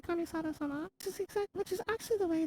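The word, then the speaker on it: Kamisato: he said it in japanese too he said kamisota and then he said and that's improper it's definitely a proper um but you're supposed to say kamisados which is actually the way that the girl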